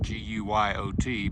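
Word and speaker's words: Guyot: It's spelled like Gailhead, G-U-Y-O-T, but they say it's Guyo. But I'm gonna say it's French, so that's how it's pronounced.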